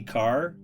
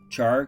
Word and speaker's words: char: A lot of people say car. Char, car, potato, potato, tomato, tomatoes. It doesn't really matter, boys and girls. It all cooks the same. Okay? All right. We pronounce the ch, right? That's how we were taught in school, okay? The ch. It's pronounced ch.